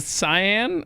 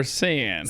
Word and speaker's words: Saiyan: So the Cyan or Saiyan? Saiyan. Really? Okay. Did I spell it wrong? No, you spelled it right. I would have said cyan, but that shows what I know.